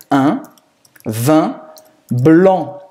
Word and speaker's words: un vin blanc: Em francês é un vin blanc. Un vin blanc. A pronúncia é um pouco complicada porque esse un bem nasal.